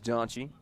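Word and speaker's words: Daantji: at the plate batting 295 on the ears daunchy and he'll get a 3-0 count if you're wondering how that's spelled d-a-a-n-t-j-i ahead in this count 3-0 has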